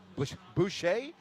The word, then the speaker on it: Boucher: Josh Boucher, like Bobby Boucher, it's spelled a little different.